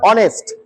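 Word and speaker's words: honest: হবে কিসের মত হবে এইস এর উচ্চারণ অ এর মত হবে কেমন আমি হয়তো লিখতে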